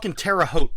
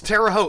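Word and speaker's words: Terre Haute: the French words properly it's terao it literally means The High Ground okay all right well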